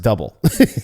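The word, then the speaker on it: Dubbel: But quite a few people were saying it actually is pronounced double.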